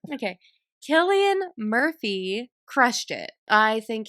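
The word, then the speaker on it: Cillian: Killian Murphy crushed it.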